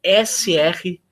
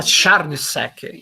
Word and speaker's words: Srnicek: N-I-C-K, Nick Srnicek, é um nome impronunciável, né? É S-R-N-I-C-E-K. Srnicek. É tcheco, se eu não me engano. Alguns falam Charnicek, enfim.